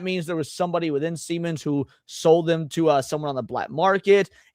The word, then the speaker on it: Siemens: Whether that means there was somebody within Siemens who sold them to someone on the black market, handed them over. Believe it or not, you're pronouncing Siemens correctly.